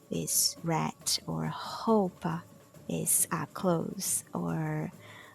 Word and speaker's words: roupa: When the R is at the beginning of a word, then it's pronounced as like the very similar to the H sound in English, like hospital.